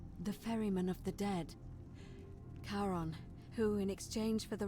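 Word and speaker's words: Charon: it's just as you described it only your pronunciation is a little off the name you heard wasn't Karen it was c h a r o n as in karon the Fairman of the Dead Caron who in exchange for the right coin helps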